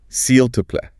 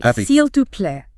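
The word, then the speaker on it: s'il te plaît: the salt please then it's the informal seal to play pronouncing carefully seal to play with the t matching to exactly now thank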